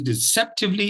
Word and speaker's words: deceptively: word for today is deceptively it's a four syllable word and the second syllable carries the stress okay and we also